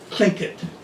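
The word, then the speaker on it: Tlingit: Coast Indians called it kinket I I always thought it was TL but it's even though it's spelled TL a CLA it's it's a KL and that's what I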